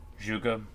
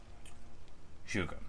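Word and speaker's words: 诸葛: Zhuge? Okay, the G-E at the end. Yeah. I know that the ZH is like the J sound, I just say it wrong all the time. Zhuge, not Zhuge.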